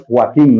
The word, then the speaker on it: Joaquín: Su nombre es Joaquín, no es Joaquín. Sí, no es Joaquín, no se escribe con CH y M, se escribe con Q-U-I-N.